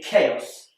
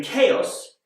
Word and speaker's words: chaos: end but and finally chaos this is spelled with a CH and CH is not more commonly pronounced like in church but in chaos it's a like in cat so you can see